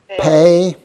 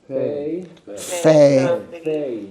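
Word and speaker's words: פ: Once again we have a desh. So we have the point in there. So we have a a hard sound pay p pay and without the desh then it becomes a soft sound fe pay fe.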